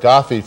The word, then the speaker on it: GAFI: So if you hear the word GAFI from time to time, no, it is not the leader of Libya, but it is the German-American Heritage Foundation International, pronounced more or less the German way.